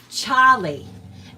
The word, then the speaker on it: Charlie: We would say Charlie, and like so the A would be it would be like an A sound instead of the R, like Charlie.